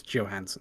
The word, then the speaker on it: Johansson: people will default to johansen just because that's how we're used to those names being pronounced no her name is johansen that's how she pronounces it that's how everyone she